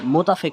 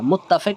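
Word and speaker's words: متفق: মাকত এখানে গিরউইদান এখানে উচ্চারণটা হবে মুতাফিক না মুত্তাফিক হনা উচ্চারণটা হবে মুত্তাফিক হনা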